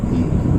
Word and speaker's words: धीमहि: फिर बोले फिर से अगले दिन फिर धीमहि, छोड़ा नहीं, 3 दिन पीछे पड़ गए धीमहि बोलो, और आखिर में सिखा दिया कि धीमहि बोलना चाहिए।